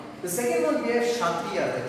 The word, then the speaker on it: Kshatriya: The second one we have Kshatriya. The K is silent here.